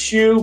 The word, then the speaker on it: Hsu: that right sue technically it's pronounced shu but everyone says sue for my whole ten